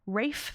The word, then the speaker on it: Ralph: MCC at this point Rafe fins who I just want to call Ralph so badly do you know this